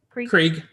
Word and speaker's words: Krieg: Krieg.